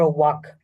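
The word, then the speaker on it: walk: তারপর ওয়াক, এটা দেখেন এল will be silent here, ওয়াক, এলটা কিন্তু স্যার সাইলেন্ট থাকবে, ওয়াক হাঁটা, আর রান দৌড়ানো, ঠিক স্যার আছে?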